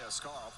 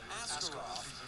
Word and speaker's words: Askarov: nickel in the jar every time we say Askarov, which is actually how you pronounce it. And Yaroslav has said that, but he wants to be called Askarov.